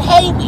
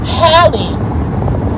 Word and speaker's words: Halle: I'm like, her name is Halle Bailey. It's like Halle Berry. And they kept calling her Haley. And I'm like, her name ain't Haley.